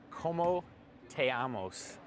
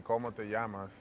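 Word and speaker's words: cómo te llamas: Como te amos? Oh. Did I say that wrong? Yeah, you did. It's actually como te llamas.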